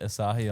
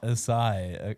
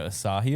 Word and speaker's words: Asahi: And then Olivia was like Asahi, and I was like, maybe I'm pronouncing it like the beer company, Yeah, Asahi. Asahi, Yeah. not Asai.